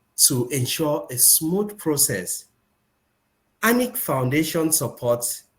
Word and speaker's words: Anike: Please permit me my pronunciation with uh Ani Foundation and Ani. It is an Foundation not an Foundation.